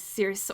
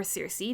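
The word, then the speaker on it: Circe: madeline miller's other book which is cirrus or cersei depending on how you pronounce it um which is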